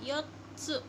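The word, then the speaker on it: よっつ: Karena pakai su kecil jadi kita pakainya di omongnya di tebelin, jadinya yotsu.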